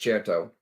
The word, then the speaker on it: Certo: Hey, it is pronounced Certo. Certo means confident and sure in Italian, and that's what's happening here.